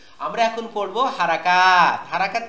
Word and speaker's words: হারাকাত: বাংলাদেশের অধিকাংশ উস্তাদ আমরা নরমালি এভাবে বলি যে হরকত। দেখেন, হরকত এটা আরবি উচ্চারণও শুদ্ধ না, বাংলা উচ্চারণও শুদ্ধ না, উর্দু বা ফার্সিতে আছে কিনা আমার জানা নাই। তো আমরা এই লেসনের নামটা বা টপিকের নামটা আমরা হরকত না বলে হারাকাত বলবো, ঠিক আছে?